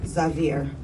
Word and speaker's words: Xavier: So Xavier, I know everybody's been saying Xavier, but we pronounce it Xavier.